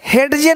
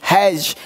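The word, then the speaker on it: hedge: पढ़ेंगे, ये पढ़ेंगे एज, एज, यानी डी को साइलेंट कर दिया, एज, एज मतलब किनारा। ये देखिए हेडजे नहीं हैज, हैज मतलब झाड़ी।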